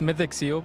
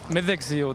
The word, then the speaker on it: Mythic Seal: It's Mythic Seal, but the Burmese pronounce it as Mythic, which is not the correct pronunciation. But Mythic Seal, that's the correct pronunciation.